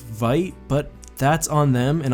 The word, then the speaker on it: Vite: ladder I think it's cuz I called it V ramen last time when the pronunciation is white but that's on them